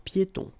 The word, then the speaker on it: piétons: Final S here, not pronounced, and then final not pronounced. Un passage pour piétons.